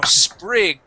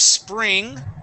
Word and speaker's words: sprig: be ringing okay um now sprig instead of spring okay that is not a misspelling of a word that is spri spr okay and that's a little